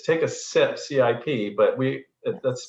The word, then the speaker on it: CIP: But just it's take a sip, CIP, but that's pronounced sip. It's Right. not take a CIP. It's take a It's sip. not. That's right. That C is a soft C.